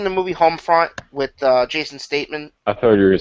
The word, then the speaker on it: Statham: You mean Statham. Am I not pronouncing it right? Do I sound like a robot? Statham.